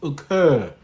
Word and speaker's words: occur: You couldn't say occur. You'll say okay when, because that's how we pronounce When you will say okay, it's not okay, it's occur. Occur. Because that's a vowel, and then that's a retracted R.